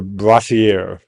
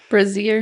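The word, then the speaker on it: brassiere: were stuffed inside, yes, you guessed it, her braier or bra. Brazier.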